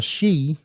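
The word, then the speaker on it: sídhe: Jason of the she now in Celtic the shei is what they called the um Sprites or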